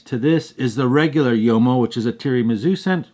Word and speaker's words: Uomo: Next fragrance I wanted to tell you about really quick also is called Uomo Ferragamo Signature, and I used to pronounce it Uomo because it's U-O-M-O, but it's pronounced Uomo.